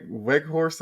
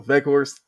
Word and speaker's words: Weghorst: And it was a Weghorst, I believe is how you pronounce it. It's like W, but pronounced with V. So Weghorst gets the scoring started